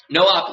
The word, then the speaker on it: NOP: two instructions here called NOP pronounced no no operation no op literally does nothing for